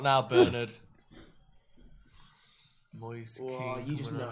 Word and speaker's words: Moise Kean: Moise Keane you just coming know.